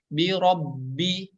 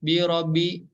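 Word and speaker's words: بِرَبِّ: Maka harus ada sidah atau tekanan, ditekan ya. Bi robbi, bi robbi. Bukan bi robi, tapi bi robi.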